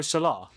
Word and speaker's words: Salah: The H is silent, yo. Is it? What? So it's Mo Salah?